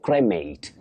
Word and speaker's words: cremate: And remember, the verb is to cremate. Cremate, not cremate.